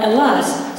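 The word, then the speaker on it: Ελλάς: They call it Hellas, but they don't pronounce the H. There's no H. So they call it Hellas.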